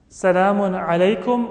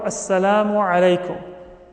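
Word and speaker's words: السلام عليكم: Salamun alaykum or Assalamu alaykum. Many times you say it quickly, Assalamu alaikum, or even shorter than that.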